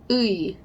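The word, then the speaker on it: 의: Ooey, ooey. Ooh and e. Ooh, e. Ooey. Do you hear that?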